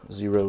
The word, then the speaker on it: Xero: are from zero shoes the name zero is spelled with an X as you can see